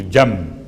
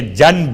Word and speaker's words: جنب: جیم نون بے، چونکہ تجوید کے قاعدے کے لحاظ سے آپ کو تلفظ میں میم کی آواز محسوس ہوگی، جنب، حالانکہ جنب ہے۔ اس کا ترجمہ کیا ہے؟